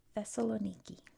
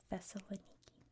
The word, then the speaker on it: Thessaloniki: In English, it's pronounced Thessaloniki. Thessaloniki.